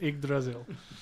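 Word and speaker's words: Yggdrasil: Just pretend it's an I. That's it. I don't know how to pronounce that many G's and with a D straight upgrail. As far as I know, it's just igraasil.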